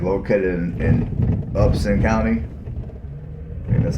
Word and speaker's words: Upson: it is located in upston County because I pronounced it up instead no up upset I'm sorry Upson Upson up Center there's no t so yeah it's located in Upson County and that's how